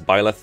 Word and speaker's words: Byleth: I'm used to saying Boleth a lot, but apparently it's Byleth and people told me that a lot, so I'm going to try to say Byleth whenever I can.